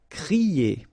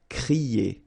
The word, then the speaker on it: crier: So when you combine this C and R, you get the sound cr. Okay, so crier. Okay, but not too strong.